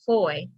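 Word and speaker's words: foi: is a feudal grant of land whoa f-o-i pronounced foy or faith feel uh felty feudal law belief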